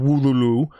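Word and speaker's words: Wololo: In an update from Wululu on Twitter, that is how you say it.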